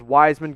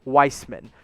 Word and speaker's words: Wiseman: kind of numbers is wiseman going to put up in game one or excuse me i've learned today it's actually pronounced weissman so james weissman what kind